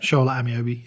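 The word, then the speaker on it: Shola Ameobi: Is that how you pronounce it? Shola Amiobi, yep.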